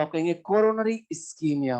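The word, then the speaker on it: ischemia: जब भी किसी ऑर्गन या टिश्यू को ब्लड सप्लाई कम होता है, आप कहते हैं इस्कीमिया। इस्कीमिया लिखते हैं, प्रोनाउंसिएशन कीमिया होता है।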